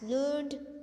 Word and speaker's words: learned: So we pronounce it as learned to rhyme with created weighted. Learned, we at the last ed we used to pronounce it id, okay, like that.